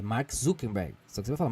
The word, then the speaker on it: Zuckerberg: Se você fala Zuckerberg, igual a gente fala, parece que tem Y no final. Entendeu? Mas é Zuckerberg.